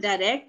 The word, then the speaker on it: direct: Ma'am, what is the correct pronunciation of DIRECT? Bache, it is called direct and direct. Both are correct.